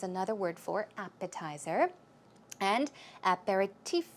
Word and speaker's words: aperitif: word for appetizer and aperitif is another one the stress goes right there on the last syllable I did check out